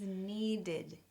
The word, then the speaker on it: needed: this is needID, needID, extra syllable, needID.